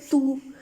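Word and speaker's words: tu: बहुत आसान है अब ज्यादा जोर नहीं लगाना यू के ऊपर तू इस तरह नहीं करना बस आराम से बोलना है तू टू और ये फ्रेंज के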